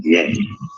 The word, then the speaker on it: Ye: Pronunciation is as yay.